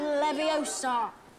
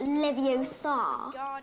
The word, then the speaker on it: Leviosa: me of something Wingardium Leviosa stop stop stop you're going to take someone's eye besides you're saying it wrong it's Leviosa not live yo sod you do it then